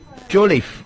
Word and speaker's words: Jolliffe: So, Sam Jolliffe, I'm told it's pronounced.